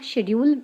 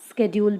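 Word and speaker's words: schedule: वैसे यहाँ शेड्यूल है, लेकिन मॉडर्न इंग्लिश में इसका जो प्रोनाउंसिएशन है अब स्केड्यूल भी हो गया है, तो आप चाहें तो इसे शेड्यूल बोलें या फिर इसे स्केड्यूल भी कह सकते हैं।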